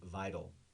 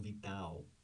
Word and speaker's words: vital: In American English, generally it is vital, a vital region, região vital, vital. The stress, the emphasis is on the first syllable, the I, vital. And that's why the A is not vital, it's vital.